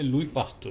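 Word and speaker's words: Louis Pasteur: বলা হয়েছে লুই পাস্তুর, এটা একটি ইংরেজি শব্দ, আমাদের উচ্চারণ করতে হবে লুই পাস্তুর।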